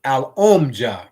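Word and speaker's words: Alomja: Because how they spell it is A-L is al, and then there's O-M, om, and then there's J-A, ja.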